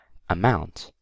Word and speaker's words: amount: and then we have amount amount the stress is on the word mount okay that out okay so